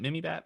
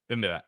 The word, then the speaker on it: bibimbap: the first time has now proceededly to be mispronounced every time I say it. Mini is it Mimi Bat? Mini Bat? Bibimbap? Bibimbap. I don't know where the heck the Mimi came from. Bibimbap.